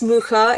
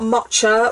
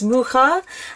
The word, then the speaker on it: Mucha: So first of all, I'm going to talk to you about tarot mucha. Yes, the word is mucha. It's not matcha or musha or musha. It is indeed mucha. The artist's surname is mucha.